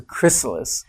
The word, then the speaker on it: chrysalis: the chrysalis chrysalis yeah I have to say it very carefully because there's no tea in it I was pronouncing a tea but it's a chrysalis and they hatch from